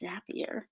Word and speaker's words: Zapier: Now you can use things like Zapier, and it is pronounced Zapier.